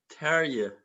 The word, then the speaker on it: Terje: Yeah, Terje. What's the problem with the name? It's the R? yeah. It's we have those R instead of R, Terje?